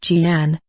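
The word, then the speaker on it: Jnana: The famous Nana, pronounced Jian, mudra formed by joining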